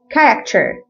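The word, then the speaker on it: character: هي اسمها كده وكمان كيمستري كيمستري وكلمه شخصيه كراكتر كراكتر كراكتر طبعا الحاجات دي بتتعرف مع الممارسه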